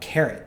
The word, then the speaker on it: Karot: Um, next after that was in fact an app called Carrot, spelled with a K A R O T.